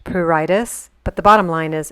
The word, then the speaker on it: pruritus: the third week i had what they call puritus it's actually pronounced pruritus but the bottom line is it's infernal itching